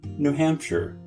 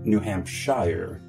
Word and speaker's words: New Hampshire: When it's part of a name, you pronounce it as you do in New Hampshire, not New Hampshire.